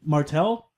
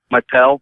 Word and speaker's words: Mattel: I always mispronounce it. Jack? No, it isn't Jack. I think it's Martel. Mattel.